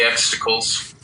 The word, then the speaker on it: Exticle: I wanted to get him to say Exticle, and I was like, say X, and he was like, X, and then I was like, say tickle, like tickle me Elmo, and he was like, X tickle.